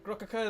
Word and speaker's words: Grokkuka: Grokkuka is usually how it's pronounced normally, but it sounds stupid, so I just call it myself Grokk.